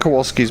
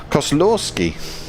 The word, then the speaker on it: Kozlowski: it I don't think Kowalski's been in uh it's not Kowalski it's cost so slowski maybe he hasn't been here because I've been pronouncing his name all wrong Kozlowski learn to read gems